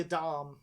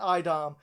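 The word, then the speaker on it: a'dam: the the uh leashes it's spelled with an a it's like a apostrophe d a n so i always think of it as a dam yeah but it's an idom and in the the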